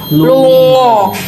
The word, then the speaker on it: lunga: Nah, pergi ini kalau dalam bahasa Jawa ngongkolnya itu lungo. Lungo. Tulisannya lunga, tapi bahasanya lungo bacanya. Ya.